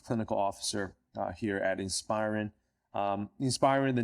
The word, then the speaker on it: Inspiren: their company in inspirin is that how I pronounce it guys is that right inspirin that's right yeah so welcome John and uh